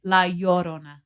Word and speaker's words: La Llorona: La Llorona. She's the weeping woman. Yes. Did I say it right? Yeah. You're making fun of me. I aren't was you? trying not to. It's La Llorona.